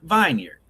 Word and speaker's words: Vineyard Vines: Preston thinks vineyard is pronounced vineyard. Argue with everyone in the room who was like, Preston, it's vineyard, it's not vineyard. Oh yeah, it's vineyard. Look how it's spelled.